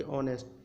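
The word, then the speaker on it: honest: इसी तरीके से ऑनेस्ट को हम ऑनेस्ट पढ़ते हैं। यहाँ पर एच साइलेंट में रहता है, यानी कि ऑनेस्ट।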